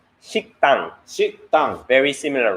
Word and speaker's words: 식당: Shikdang. 식당.